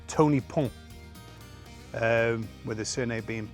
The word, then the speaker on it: Pont: he's actually called Tony Pont, with his surname being P-O-N-T, so I'm assuming it's Bridge, Tony Bridge. We don't pronounce the T, do you?